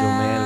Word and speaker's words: Jomel: Mali yung bigkas mo. Jomel? Ano? Jonelle. Jonelle. Ganun. Pero Jomel kasi ka. Jomel. Jomel, ganun dapat.